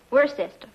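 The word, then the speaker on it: Worcester: Freddy calls it something else too doc but it's spelled w r c e s t e r Where sest oh yes I see yes Lord wer mhm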